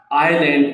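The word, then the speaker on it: island: आइलैंड इसके अंदर एस जो है वो साइलेंट है।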